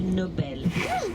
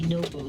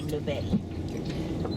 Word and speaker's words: Nobel: In Swedish, the name is pronounced Nobel, with stress on the second syllable. So we don't say Nobel, we say Nobel.